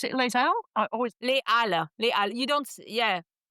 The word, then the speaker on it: Les Halles: I always Les Halles. Les Halles. You don't, yeah. I always mispronounce that one. No liaison, that one.